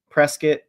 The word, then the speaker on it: Prescott: lot of those um Prescot Arizona it's spelled Prescott but they call it presc I don't know what